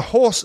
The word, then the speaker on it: hoarse: Horse, though, is spelt differently here. It's H-O-A-R-S-E. So horse that you ride is H-O-R-S-E, and a hoarse voice, meaning rough, is H-O-A-R-S-E.